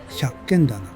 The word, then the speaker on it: 百軒店: 百軒棚の入り口、百軒店と書いて百軒棚。